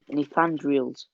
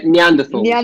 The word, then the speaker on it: Neanderthals: how do you say it? Nethandrials. Uh, Neanderthals. That's that's it.